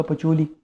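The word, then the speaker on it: Pacioli: रहे, पिक्योली टाइप लिखा है, लेकिन एक्चुअली उसकी प्रोनाउंसिएशन जो मैंने गूगल पे देखी थी लूका पचोली, actually double entry system का फाउंडर वो है।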